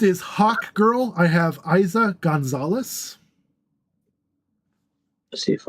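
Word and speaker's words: Eiza: Yeah, Ben Schwartz is absolutely hilarious, and Plastic Man is a goofy character. So, yeah, he is. I would love to see him take on that role. Next is Hawk Girl. I have Isa Gonzalez.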